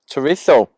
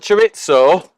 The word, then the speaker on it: chorizo: Chorizo. Pronounce it right or we get told off. It's not chorizo, it's chorizo.